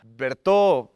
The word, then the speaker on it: Bert: no no no no no no que cómo pronuncio tu nombre Ah bert pero me puedes decir bert el tío bertungas